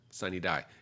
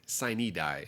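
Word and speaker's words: sine die: is in vaccine Ada according to how to pronounce this but in a state where we've got cities like prag and Miama I'm not surprised that we might say siny die it is where we say sin die and not just sign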